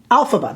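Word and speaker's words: Elphaba: our two blushes our Glenda side and our alphaba side alphaba there I said it right that time didn't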